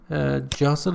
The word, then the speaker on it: jostle: shops and shopping mall or Center where they jostle each other to buy copies of the most expensive dresses when you just all pay attention tea is not pronounced it's not pronounced jostle it means you try to just force away